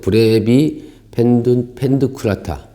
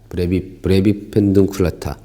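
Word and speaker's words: brevipedunculata: 브레비펜드, 어떻게 읽어야 돼, 이거? 브레비펜둔쿨라타. 브레비펜둔쿨라타. 브레비페넌쿨라타. 이렇게 읽어요. 그래서 발음이 어려워서 그냥 브레비 한답니다.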